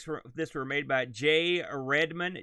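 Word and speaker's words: Jai: this were made by j redmond j is spelled cool guy style j-a-i so i think that's he's still j right j-a-i yeah and the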